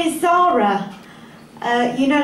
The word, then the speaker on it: Zahra: Hello, yes, my name is Zahra. You know, like the shop. But unlike the shop, my name is spelt Z-A-H-R-A. And that's because it's an Arabic name, and my Arabic family pronounce it Zahra.